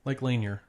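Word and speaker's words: Lake Lanier: Lake Lier. Yeah. Oh, okay. Lake Laneer.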